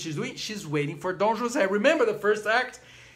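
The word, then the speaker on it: José: exactly that's funny actually the pronunciation of Jose because Jose is a Spanish name but because it is in for the operas in French they don't call though Jose they call him Don Jose which is very fact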